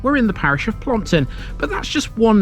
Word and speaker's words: Plompton: Through time, Plompton has been variously spelt and pronounced, and that's why some of you Harrogate natives might know this as Plumpton instead.